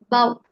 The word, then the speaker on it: bough: The first one is pronounced as enough, the second one as cough, and the third one as bow.